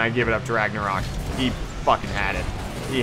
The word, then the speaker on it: Ragnarok: Ragnarok. That's how you pronounce it.